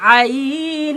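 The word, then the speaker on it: عين: কন্ঠনালীর মধ্য হতে কন্ঠনালীর মধ্য হতে জিহিবার গোড়ার শেষ ভাগ জিহবার গোড়ার শেষ ভাগ যেহিবার গোড়ার শেষ ভাগ উচকিয়ে গোড়ার শেষ ভাগ উচকিয়ে আলা জিহ্বা ছুইয়ে আলা জিহ্বা ছুইয়ে হালকাভাবে নাড়িয়ে হালকাভাবে নাড়িয়ে যার উচ্চারণ করতে হয় চার উচ্চারণ করতে হয় এর নাম আইন এর নাম আইন এর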